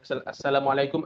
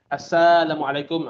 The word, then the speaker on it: assalamualaikum: Assalamualaikum, assalamualaikum bukan asalamualaikum.